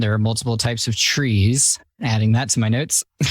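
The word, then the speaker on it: trie: don't make any sense my biggest pet peeve is tree that's spelled t-r-i-e why would you do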